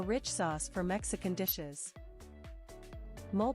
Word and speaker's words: mole: Mole, pronounced as mole, is a rich sauce in Mexico.